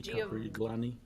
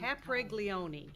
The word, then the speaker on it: Capriglione: I just wanna see if we can pronounce his name. Giovanni Caprigloni? - Giovanni Cap, Capre, Capreloling. - Capreloni. - Capre-- - Why, why, why. - Capriglione.